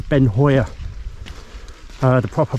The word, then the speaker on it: Beinn Chabhair: up the middle towards ben shabir i think the proper way of saying is ben hoyer uh the proper pronunciation